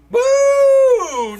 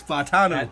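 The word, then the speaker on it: Fautanu: go Fu let's go Fu no it's fatano how do you know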